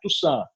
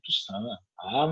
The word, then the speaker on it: Toussaint: né, não é Toussaint, né, é Toussaint, né, tem o sotaque francês, né, Toussaint, moleque, que, né, a coisa começa a acontecer.